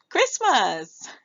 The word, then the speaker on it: Christmas: Can we say the word Christmas? Yes, you can. All right. So, we see cris t is silent. We hear m s.